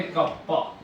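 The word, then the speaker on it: κ: इसको प्रोनाउंस किया जाता है कप्पा। कप्पा से अपन इसको प्रोनाउंस करते हैं।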